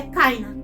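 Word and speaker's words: קַיִן: Kuf com Kametz, K. Yud com o Hirik, I. E aqui tem um Nun final. Cain.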